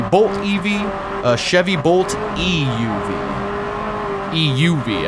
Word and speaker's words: EUV: EUV, I guess, would be the correct emphasis on the syllable there.